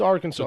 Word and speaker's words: Arkansas: you know that didn't deserve it well it's Arkansas thanks for the correction its Arkansas it's the arch enemy of Kansas where the